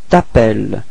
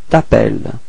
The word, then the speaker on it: t'appelles: We're starting with voyelle, so it's the same thing as previously, disappears, so we get this tu t'appelles. Okay, final S is not pronounced. Tu t'appelles.